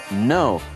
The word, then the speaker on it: know: 是不发音的，都是发 N 的音而已。所以呢 knock。K-N 的 N 发音，K 不发音。其他的例子，比如说 know，知道事情的 know，K 不发音。打结的 not，K-N-O-T，K 也不发音。跪下来的 kneel，K-N-E-E-L，K 也是不发音的，这个要特别的小心。接下来学动词 apologize，